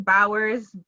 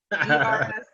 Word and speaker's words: Bowers: Last name Bowers, Bowers, not Baugers.